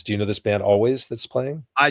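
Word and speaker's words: Alvvays: Yeah, they spell their name with two V's, but it's pronounced always.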